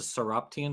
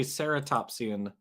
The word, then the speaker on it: ceratopsian: Jackson says it's a stian dinosaur referring to he was meant to say ceratopsian but he said stian I don't I don't